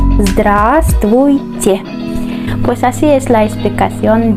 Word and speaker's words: Здравствуйте: Zd, zd, después r, zdr, zdr, y recordamos la A, zdra, zdra. Después S, V no se pronuncia, y sabes por qué. Zdrast, zdrast, vuy. Recordamos y, ch, che. Здравствуйте.